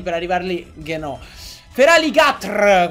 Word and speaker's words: Feraligatr: Feraligatr, come si dovrebbe pronunciare, però la gente lo pronuncia Feraligator perché siamo tutti stronzi e lo sappiamo pure.